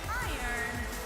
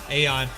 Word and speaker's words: Aeon: Making her way to the ring from Busan, South Korea, Iron Lee. Is it Iron? Is that how you say her name? Iron? It's no, oh, Aeon.